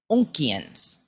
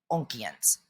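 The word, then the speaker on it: Oonkians: Now, the other type, the insectoid Onkians. I don't know if I'm saying that right, but it's spelled O-O-N as in Nancy, K-I-A-N as in Nancy S. Onkians.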